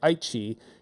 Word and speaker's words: Aichi: Like, which is, we would say Aichi. You might see it spelled with English characters AICHI, or the old way is AITI.